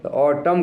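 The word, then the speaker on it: autumn: रेनी माने वर्षा रेतु ए यू टी यू एम एन इसमें N silent है ऑटम का मतलब सरद ऋतु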